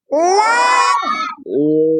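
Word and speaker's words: لام: baru লাম জিব্বার agar কিনারা, তাই না? জিব্বার আগার কিনারা সামনের উপরের মাড়ির দাঁতের গোড়ার সঙ্গে লাগায়া উচ্চারণ হয়। তাহলে লামের মাখরাজ জিব্বার আগার কিনারা সামনের দাঁতের মাড়ির দাঁতের গোড়ার সাথে, সামনের যে দাঁত এই মাড়ির দাঁতের গোড়ার সঙ্গে জিব্বার আগাটা লাগাতে হয়।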